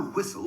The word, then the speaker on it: whistle: to help you remember some tricky silent t's after tea listen for the whistle before you fasten up the castle and at bedtime use